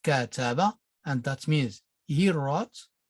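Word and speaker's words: كتب: word notice here that we have ka taba that means that is pronounced cataba and that means he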